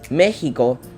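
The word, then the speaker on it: México: the a of Mexico this is pronounced like an H in English Mexicali would be Mexicali Mexico would be Mexico and Texas Tas Carlos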